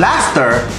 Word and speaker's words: laughter: Pero bakit yung laughter na after din ha, nilagyan lang ng L. E naging L-A-U-G-H-T-E-R. Di ba dapat L-A-F-T-E-R lang? Kailan pa naging katunog ng F ang U-G-H? Di ba dapat natunog niya eh?